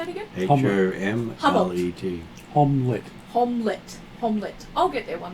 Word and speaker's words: Homlet: Omelette. Oh, how do you say it again? H-O-M-L-E-T.